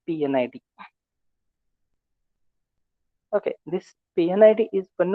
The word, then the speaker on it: P&ID: piping and instrumentation diagram mostly called as p and ID or pronounced as PN ID okay this pnid is